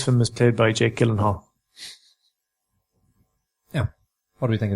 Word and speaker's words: Gyllenhaal: It's Jake Gyllenhaal.